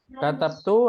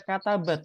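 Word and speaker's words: كَتَبْتُ: Katabtu hadhil kalimah. kalimati. Nah, di sini jangan antum baca katabat ya. Karena nggak ada failnya.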